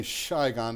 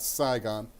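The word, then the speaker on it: Sài Gòn: would be around shyon notice I say shyon not saon and um where I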